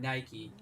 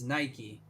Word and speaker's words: Nike: it's Nike Lulu they pronounce their name Nike so it's Nike now if you're talking about the word Nike that has no uh correlation to the shoe brand then it would be